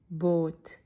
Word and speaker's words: Boot: When you see the same vowel twice, it's going to be long. Think of the word boat. You stretch it out like boat. Boot.